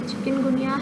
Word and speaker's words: chikungunya: Chikungunya has nothing to do with the chicken.